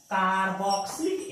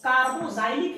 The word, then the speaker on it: कार्बोक्सिलिक: दीजिएगा, उसका नाम है कार्बोक्सिलिक एसिड। कार्बोक्सिलिक एसिड, इसको कार्बोजाइलिक एसिड भी आप बोल सकते हैं। एक्स का उच्चारण ज भी हो सकता है।